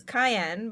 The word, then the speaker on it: Cyan: Like I that's how Yeah, it's supposed to pronounce as Cayenne, but I yeah. still pronounce it as Cyan because that's what I grew up with. I've always And said Cyan.